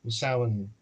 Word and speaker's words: Samhain: So, I suppose you should start with what's sin. It's pronounced sin. It's an Irish word. So, you you you can forget about English style pronunciations in terms of how you say the letters.